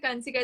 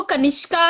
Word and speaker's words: Kanishka: सर बोल रहे थे Kansika is coming on the house, huh?